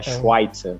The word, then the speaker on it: Schweitzer: É que não é um V, é quase um U, então é Schweitzer. Schweitzer, ó, passei perto. O Schweitzer, que é o Head